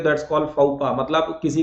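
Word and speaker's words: faux pas: तो भैया इसको पढ़ा जाता है फाउपा। आया मजा? फाउपा ये अंग्रेजी है, ठीक है। Welcome to English land. फाउपा, FAUX silent है और इसमें S साइलेंट है, तो फाउपा पढ़ा जाता है।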